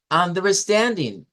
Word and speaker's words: understanding: Entonces, esta de acá es la sílaba tónica de esta palabra, understanding. Understanding.